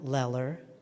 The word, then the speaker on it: Leler: I am Leler. It rhymes with stellar.